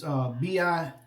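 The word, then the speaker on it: Bilirakis: For that name that I couldn't pronounce, it's Bilikrakis.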